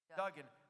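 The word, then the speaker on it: Duggan: Dougen.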